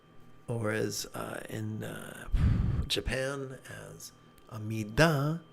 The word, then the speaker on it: Amida: and forgive my pronunciation, Amita, or as in Japan as Amida, different part of my tongue. One has a T, one has a D, blah, blah, blah.